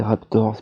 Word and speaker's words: Raptors: C'est Raptors, pardon, il y a un S à la fin. Faut bien tout prononcer, sinon on se le fait reprocher.